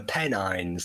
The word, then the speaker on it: Pennines: Yeah, well, this is where I'm from, the Pennines. That's how you Pennine.